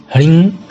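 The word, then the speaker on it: ह्रीं: कोशिश कीजिएगा कि श्रृंग में ग का उच्चारण ना हो और ह्रिंग में ग का उच्चारण ना हो, जिसे श्रृंग ह्रिंग सरस्वत्यै स्वाहा इस तरह से उच्चारण कीजिएगा तो ज़्यादा ये श्रेष्ठकर है।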